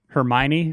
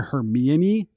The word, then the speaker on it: Hermione: I had been reading some I'd been reading some stuff in college that was like Greek stuff, and I had that not in Greek, but that like pronunciation in my mind, so I kept calling her Hermione.